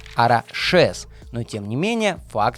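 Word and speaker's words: Araxes: Баски произносят это название не как Араксес, а как Арашес.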